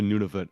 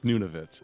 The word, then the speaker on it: Nunavut: But I believe it's Nunavut. I think it's I- pronounced Nunavut. It's a native word, so it's pronounced a Yeah.